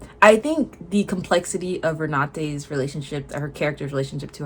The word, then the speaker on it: Renate: Jesse Buckley was really good in Hamnit, but I think Renee Renette, I just looked up how to pronounce her name. Renate I think was fantastic in sentimental value because again, subtlety.